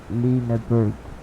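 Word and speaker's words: Lüneburg: to Lixelect, because actually a U with the dots on top of it, above it, you pronounce that as Y. Well, not Y, but E in Swedish. But this is German, so that would be Lineburg.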